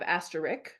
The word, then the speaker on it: asterisk: good it's of course it is spelled asterisk with the S before the K but it sounds like both you and I have swapped the K and the s that is my natural